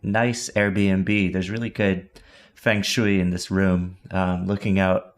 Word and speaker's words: feng shui: There's really good feng shui in this room, looking out over downtown Toronto.